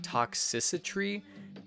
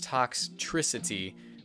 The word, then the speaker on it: Toxtricity: and that is toxicity it's really hard to pronounce I thought it was like toxicity but no its toxicity we just skip the vowel altogether but this